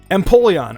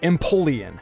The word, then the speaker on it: Empoleon: Empoleon, or as I said it, Empoleon. Is this one common though? Did anyone pronounce it like this?